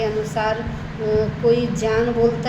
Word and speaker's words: ज्ञान: ज्ञान बोलता मिलता है लेकिन सही उच्चारण है ज्ञान क्योंकि यह जो ज है वह ज और य से मिलकर बना है इसलिए हमें क्या उच्चारण करना चाहिए ज्ञान ज्ञान नहीं क्योंकि कुछ उत्तर के जो स्टेट्स हैं उनमें ज्ञ बोला जाता है ये ज्ञ नहीं है ये ज है तो उन्होंने कहा जो